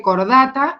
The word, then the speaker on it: Chordata: Se escribe chordata y se dice cordata, y el nombre, digamos, no latinizado, o sea, en el español vulgar, se le dice cordados.